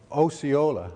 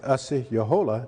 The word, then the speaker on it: Osceola: the civil house was a person known as Osceola or Osceola sometimes it's pronounced but the real pronunciation is a CEO Jolla in the language but here is a representation